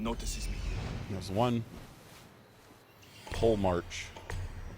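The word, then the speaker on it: Polemarch: me here there's one pull mark that's how you actually pronounce that there he is says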